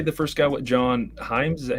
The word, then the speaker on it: Hyams: What, John Hyams? Is that how you say it? Yeah, John Hyams, director of Sick from 2023 and specifically 2020's Alone.